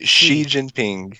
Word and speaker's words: Xi Jinping: say his name right see Jim Payne she Xi Jinping she is getting psycho over religion xi Jinping